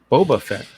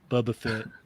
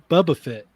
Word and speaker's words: Boba Fett: old johnny johnny joke boba fett uh we used to make fun of rich for pronouncing it bubba bubba fit yeah bubba fit where's